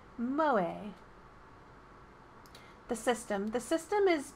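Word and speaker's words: 萌え: who possess such traits pronounced moe a the system the system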